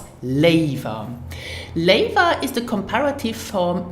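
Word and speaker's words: léiwer: over another by using the expression Laver so pronounce it Laver labor is an adverb so it can only be used in tandem with a verb so you have the construction verb + Leyva Leyva is the comparative form of gear so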